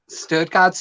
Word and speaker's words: Stuttgart: Stuttgart's U is like under, so it's more like Stuttgart.